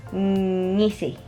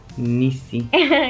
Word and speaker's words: Ngisi: that one's hard because I can't pronounce the NG sound.